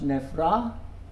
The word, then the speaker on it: neffra: Nevre, never, becomes nevra. That rhymes with krupja, that's a rhyme, but this is the one I'm concentrating on.